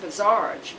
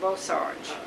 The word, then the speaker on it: Bosarge: And my father's name was u Albert Anton Bosarge and it was pronounced Bizarge but nobody could pronounce it so they started calling it Bosarge.